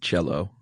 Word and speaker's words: Cielo: I looked up like 3 different places how to pronounce that, and they all said Cielo except for Diane Sawyer said cello.